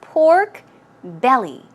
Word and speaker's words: pork belly: tummy part right so it's pork belly stress goes right here on the belly pork belly pork belly